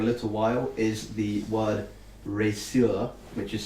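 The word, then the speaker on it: Reszur: What you do notice now that you've been holding it for a little while is the word resur, which is spelled R-E-S-Z-U-R, R-E-S-Z-U-R.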